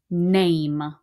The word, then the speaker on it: name: fingerspell a m name make sure you don't write me nam if you forget that e then you wrote me a completely different word i want a m with a silent e at the end n-a-m-e so if i took that e off the word is nam it's not even a word it's a nonsense word but if i have